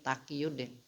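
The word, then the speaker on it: Taqiyuddin: Takqiyudin Ahmad bin Taimiyah ini bacanya Takqiyudin.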